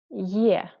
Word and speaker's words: Е: We pronounce it like ye. Be careful because we have here two sounds. First is y and second is e. Ye, ye, ye.